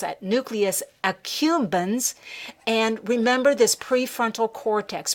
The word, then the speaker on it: accumbens: ventral tegmental area the nuclear at the nucleus ambu khun's i'm sorry i mispronounced that nucleus accumbens and remember this prefrontal cortex prefrontal cortex is